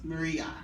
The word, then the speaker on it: Maria: Most people that know me call me Maria. Not Mary, not Mari, not, not Mira. It's Maria.